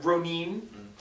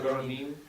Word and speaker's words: Ronin: So the Ronin, Ronin. That's the proper pronunciation. No, Yeah. Ronin. You gotta roll the R too. Ronin.